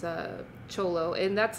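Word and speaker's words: Thyolo: you pronounce that yes it always trips people out because they they call it theolo it's it's spelt t-h-y-o-l-o theolo is what it looks like but uh in in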